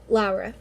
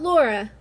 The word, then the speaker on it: Lara: they were specifically like this is how you say her name Lara um not Laura Lara so and I forgot